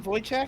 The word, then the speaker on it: Wojciech: Hey Wojciech, how are you doing? Well, Is that how you say his name, Wojciech?